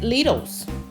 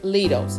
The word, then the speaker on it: Lidl: But I picked it up at Lidl's. Yes, Lidl's, and it's Lidl, not Lidl.